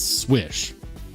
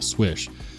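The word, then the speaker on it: Slysz: that's what everybody says according to Spyderco it's swish like you know if you're good at shooting Hoops in basketball swish it's in spyderco's brochure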